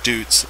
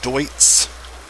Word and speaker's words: Deutz: corrected numerous times that this is not Deutz it's just my Appalachian American and me saying dudes this is Dwight's do ytz Deutz I'm